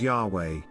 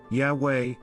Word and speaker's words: Yahweh: Today, it is commonly pronounced as Yahweh, Yahweh, although in prior centuries Jehovah was the more common usage because German scholars transliterated the Hebrew as JHVH. In German, J sounds like Y and V sounds like W.